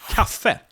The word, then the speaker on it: kaffe: So for instance, we have the word kaffe. Kaffe, which means coffee. Kaffe. But Almost the like word cafe. is stressed on the last syllable.